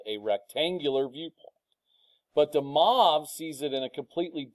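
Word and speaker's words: de Moivre: I mean, his name is DeMoivre. A lot of people mispronounce this, they DeMoivre's or I don't know. DeMoivre, that's who it is.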